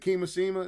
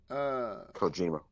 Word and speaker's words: Kojima: Is it Kimishima? Is that how you say his name? Kojima.